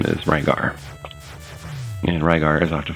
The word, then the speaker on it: Rygar: his name is ligar if you're familiar at all with Japanese um ryar and ligar would be pronounced the same by a Japanese person and so in the